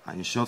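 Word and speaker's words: אין סוף: Einshof, c'est la correcte prononciation de sans limite en hébreu.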